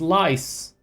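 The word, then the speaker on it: Lyse: Not Lee. Why are you pronouncing it like that? It's Lice.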